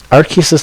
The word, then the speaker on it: Arceus: know you we learned that that's how you pronounce it Arceus arc uses the literal god of Pokemon created all Pokemon